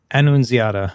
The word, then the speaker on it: Annunziata: Annunziata? Annunziata, yeah.